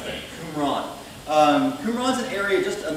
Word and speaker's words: Qumran: They were discovered in caves, actually, around the area called Qumran. That's how you pronounce that, Qumran.